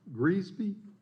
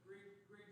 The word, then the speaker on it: Grigsby: The next individual who has signed up is, it's Greasby. I may have butchered your name. It's all right, you do it first time. It's a Grigsby.